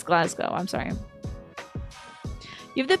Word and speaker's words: Glasgow: Oh, did I say it wrong? Glas Glasgow instead of Glasco. I thought it was Glas Cow, but it's Glasgow.